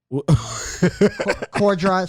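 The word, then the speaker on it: Corddry: courtney i i don't know we got it core drive sorry core drive it's all good it's not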